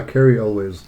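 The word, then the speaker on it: Cary Elwes: Uh, Carl, how do you pronounce his name? Carl Elwiz. Uh, Carrie Elwiz. Carrie Elway.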